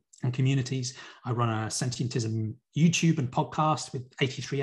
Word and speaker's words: Sentientism: you'll find us and sentientism you've got the pronunciation perfectly it is just the word sentient with ism on the end so we have a